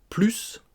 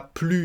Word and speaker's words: plus: commençant par une consonne on ne prononcera pas ce s donc il n'y a plus de pain c'est négatif